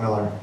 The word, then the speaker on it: Millar: So anyway, it just happened to be, you know, Mark Millar. I prefer Millar. I don't care. It's Miller, but I like the way it's spelled.